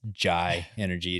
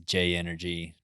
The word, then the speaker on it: JAI Energy: ryan from j energy not to be confused as jai energy it is j energy just for anyone out there that is mispronouncing it it definitely wasn't me